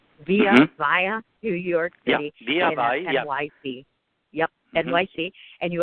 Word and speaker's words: Via Vai: Just so you folks know, the name of the restaurant is called Via how do you pronounce it? Via Vai.